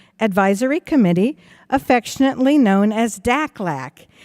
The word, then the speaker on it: DACLAC: Committee, affectionately known as DACLAC. Rhymes with AFLAC, but we're not insurance, okay?